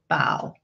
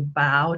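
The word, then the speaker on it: Bao: Amy Wu and the Perfect Bow. You can see right here, her kitty is telling us B-A-O is pronounced bow, like when you bow to someone, not like bow, like the kitty's wearing.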